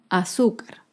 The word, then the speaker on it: azúcar: Por ejemplo, la palabra azúcar. Azúcar es una palabra grave y se acentúa en la penúltima sílaba.